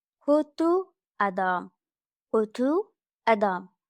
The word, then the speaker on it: kötü: In Turkish, kötü mean box, but kötü means bad. It's o and ü, not o and o.